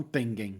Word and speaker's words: Tengen: Primeiro a pronúncia, porque eu falo Tengen e não Tengen, tá ligado? Mas a minha pronúncia é péssima.